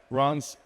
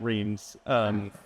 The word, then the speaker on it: Reims: Anne-Sophie is a full professor in human genetics at Reims Medical School. I would have pronounced that Reims.